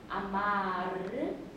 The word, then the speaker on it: amar: 그 다음에 이태리어는 R 발음 같은 경우에는 이태리어에서는 많이 불려주셔야 돼요. 그래서 아마르, 구이르 이런 끝 처리에 돼 있는 그런 거.